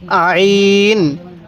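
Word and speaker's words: عين: নাম হলো আইন আইন আইনটা উচ্চারণের সময় আমরা গলার মধ্যে হালকা চাপ দিলে আইনটা সহি উচ্চারণ হবে তাহলে কিভাবে পড়বো আইন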